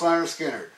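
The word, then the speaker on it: Lynyrd Skynyrd: zeppelin first album versus leonard skinner pronounced leonard skinner i got to say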